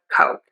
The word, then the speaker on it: Coke: Um, so to say the word Coke, you need to move your mouth for the O. It doesn't just stay open. It's not a, it's O. We move to a pucker.